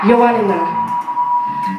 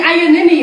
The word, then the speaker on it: Ioannina: I'm going to try and pronounce this place right. Ioannina. Yeah? Yeah, yeah. I've been saying Ioannina all week.